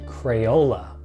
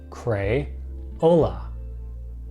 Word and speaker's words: Crayola: sticks known as crayons this company's name is pronounced Crayola cray hola Crayola and now on to